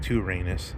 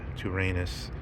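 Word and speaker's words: τύραννος: Tyrannus, I guess. Tyrannus. The Y would be pronounced more like a U in ancient Greek.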